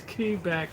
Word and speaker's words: Quebec: Quebec so yeah but they always corrected me in Canada it's Quebec yeah oh wow what a trip they'd be like at least at least pronounce it correctly sh you bloody y it's key back in oh I don't